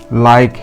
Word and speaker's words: like: আর বন্ধুরা, আমরা এর আগের ভিডিওটাতে শিখেছি প্রায়গুলো যে শব্দের শেষে ই থাকে সেই ইটা অনুচ্চারিত থাকে।